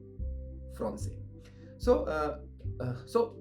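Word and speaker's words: français: speak French and French when I say French it means fron right so the word French means fron can you repeat after me it's fron it's important because this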